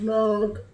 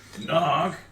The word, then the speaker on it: Narg: My name's Nog. One more time. Nog! Narg. N-A-R-G.